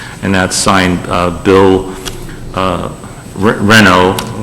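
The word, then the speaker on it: Renaud: that's signed bill uh renault which is r-e-n-a-u-d but it's r-e-n-o properties confuses the heck out of me when it comes to the french pronunciation so i'm very comfortable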